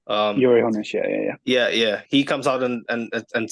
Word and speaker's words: Uli Hoeneß: Ralf Rangnick was never going to work, in my opinion, because when your guy Uli Hoeneß, or is that how it's pronounced? Uli Hoeneß, yeah.